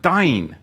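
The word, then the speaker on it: דין: The interesting thing, when you look at this in the Hebrew, strive is the Hebrew word dain, and it's spelled dalet, yod, nun, sofit, as in Dan, as in meaning to judge.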